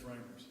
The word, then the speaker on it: Reimers: Are we pronouncing your last name right? It's Reimers.